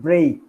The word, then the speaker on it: break: Not Okay. break, but break. A.